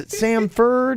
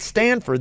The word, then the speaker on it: Samford: name wrong Sanford cuz they're Sam for Florida's Samford is it Sanford and Son is it's not Stanford that'll do now that we